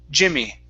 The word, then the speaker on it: Jimmy: Instead of G, me, G, it's J, Jimmy.